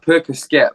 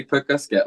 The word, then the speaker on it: Percoskett: ] is little purse because it's pronounced Percocet but a lot of American people do say put Gus get like that yeah which I found